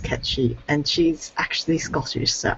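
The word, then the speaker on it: Cait Sith: him like well um our old bureaucrat diablo khan said that was pronounced catchy and she's actually scottish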